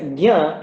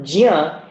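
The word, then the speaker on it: ज्ञ: And you hear me pronouncing it as gya and not jya, and there's a reason for that which I will explain later, not right now.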